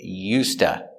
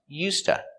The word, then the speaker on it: used to: going to practice with yusta that's right yusta used to is pronounced usta usta is to express a